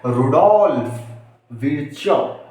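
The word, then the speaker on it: Rudolf Virchow: इसका नाम आप प्रोनाउंसिएशन ऐसे करेंगे, रुडोल्फ विर्चो। क्या था? रुडोल्फ विर्चो, जो 1855 में जिन्होंने फर्स्ट टाइम ये एक्सप्लेन करने का जिम्मा लिया।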